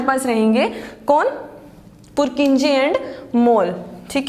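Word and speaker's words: Mohl: पुरकिंजे एंड मोल, ठीक है, एच जो है साइलेंट है।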